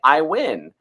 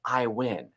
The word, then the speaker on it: Iwan: And she said, it's like you're winning. You say, I win. And so I would coach myself by saying, Bret, I win.